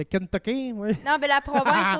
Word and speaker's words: Kentucky: Au Kentucky non euh non pas Kentoky de Kentucky.